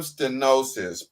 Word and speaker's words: stenosis: The term stenosis, pronounced stenosis, is defined as a tightening or narrowing in the diameter of a lumen or opening.